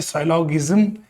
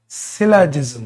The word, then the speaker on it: syllogism: लोग इसको पढ़ते हैं साइलोगिज्म। इट इज नॉट the right pronunciation of this word. Right pronunciation जो है वो है सिलाजिज्म। क्या पढ़ेंगे बेटा? सिलाजिज्म। हाँ, तो इट इज नॉट साइलोगिज्म, इट इज सिलाजिज्म।